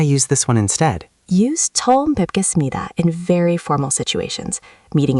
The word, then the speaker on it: 처음 뵙겠습니다: It's 처음 뵙겠습니다, pronounced 처음 뵙겠습니다.